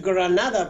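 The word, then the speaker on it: Grenada: Esa pregunta sería buena hacérsela, por ejemplo, a los habitantes de la isla de Granada, que hay que pronunciarla en inglés, Granada, porque ellos hablan inglés,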